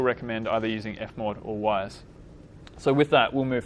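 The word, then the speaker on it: Wwise: There's other packages such as Wise, which is spelled W-W-I-S-E.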